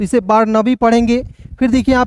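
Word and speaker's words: Barnaby: उसके बाद देखिए यहां पर बी ए आर एन ए बी वाई बार नबी ठीक है इसे नेबी नहीं पढ़िएगा दोस्तों ठीक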